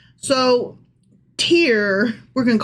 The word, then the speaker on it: Tyre: It is Tyre.